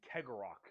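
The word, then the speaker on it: Cegorach: guarded by their god named kegerok I believe is how you pronounce his name he is the Laughing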